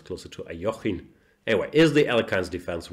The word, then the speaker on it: Alekhine: I never know how to pronounce this. In English shows I say Alekhine. In German we say Alekhine. I think Svidler taught me it's closer to Alekhine.